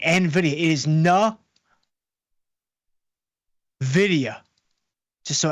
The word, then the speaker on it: Nvidia: on the line tomorrow after the bell with Nvidia earnings, which again is correctly pronounced Nvidia. Don't let Jensen Hang tried to trick you into saying Nvidia.